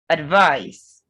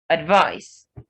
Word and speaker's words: advice: challenge then there is advice advice this word whether or not a verb it's stress on its second syllable and the c has the s sound not z then there is